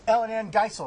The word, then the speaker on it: EllynAnne Geisel: We'll talk about that in a second, but please welcome EllynAnne Geisel.